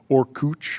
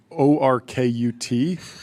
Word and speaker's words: Orkut: ORKUT, which I think was a Brazilian company that they acquired, which I believe it's pronounced Orkut or something like that.